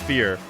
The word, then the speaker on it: Feer: pronounce your name uh it's like yeah it's like the word with an a in it it's fear uh what rank are